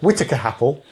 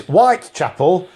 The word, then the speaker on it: Whitechapel: our work used to take us down to Whittaker Apple Whittaker Apple yes is Whitechapel pronounced by nice your sat-nav will Chapel and